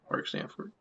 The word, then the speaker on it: Mark Sanford: Mark Sanford.